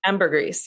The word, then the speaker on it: ambergris: Ambergris, yeah. Ambergris. Choose your own. Pick poison about the weird pronunciations here.